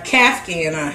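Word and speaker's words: caftan: It's an Afghan. A Kafghan. That's how you say it? Kafghan, I think.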